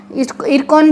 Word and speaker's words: IRCON: कि रेलवे में आरवीएनएल आरकॉन रकन भी इसको कोई कोई प्रोनाउंस करता है रेलटेल आईआरएफसी और आईआरसीटीसी